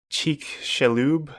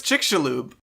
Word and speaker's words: Chicxulub: are saying either yeah it's not Chicxulub it's chick Shalhoub and they actually found